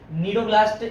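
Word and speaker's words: cnidoblast: नीडोब्लास्ट spell सी silent है, हाँ जी, सी silent है, निमेटोब्लास्ट या नीडोब्लास्ट कह दें, निमेटोसाइट्स कहते हैं इनको।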